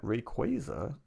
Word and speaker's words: Rayquaza: And I was always a person who thought it was Rayquaza. I don't know. Just makes sense based on the spelling. Um, some people called it Rayquaza. And recently it was confirmed that Rayquaza is the pronunciation of this Pokemon.